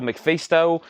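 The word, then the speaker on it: MacPhisto: And I was about to sell McFeasto, but Angela wants to know how we spell it. It's McPhisto.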